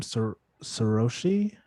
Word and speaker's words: Saroshi: Yeah, and the beauty about that too, especially how do I say her name? Saroshi? Is that how I say it? Is that right? Correct.